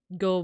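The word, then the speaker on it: 五: so sometimes like people go more for yon than they do with she um five is always pronounced as go uh six is usually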